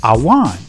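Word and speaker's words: עָוֺן: The Hebrew word for iniquity is pronounced awan, which means to crook, pervert, do perverse, do wickedly, do wrong, to bend, twist, distort.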